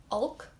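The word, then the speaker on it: olc: Evil, Ulk, so like Hulk without the H.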